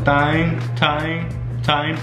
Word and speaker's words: thyme: I have some thyme. How do you say that? Thyme. Like what time is it?